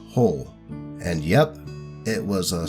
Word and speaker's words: Joel: his character is mexican so it's pronounced whole and yep it was